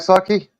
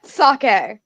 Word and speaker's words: sake: vodka potato potato vodka you don't like saki I'm sorry sake I'm a sorry I I'm a big fan of chilled saki not I know a lot of Saki is supposed to be drinking room temperature but I prefer the chill sake no I can't stand the chill sake you guys sorry I'm really quick s a k there's an e at the end sake the Japanese drink yes